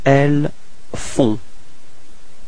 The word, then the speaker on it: elles font: Okay, and then feminine form, elles font. Same thing, on, on, and then final T is not pronounced.